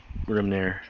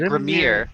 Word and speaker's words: Grimnir: Actually, you guys, Blade and, Grimnir. I always want to say it Grimir. Grimnir's not a hard name to pronounce. Just keep wanting to Yeah.